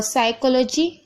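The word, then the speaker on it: psychology: और साइकोलॉजी, यहाँ पर देखिए पी साइलेंट है।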